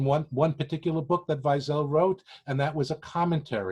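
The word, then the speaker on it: Weisel: of naphtali hertz weizel in english for some strange reason it's spelled wesley uh but his name was vizel very similar to ellie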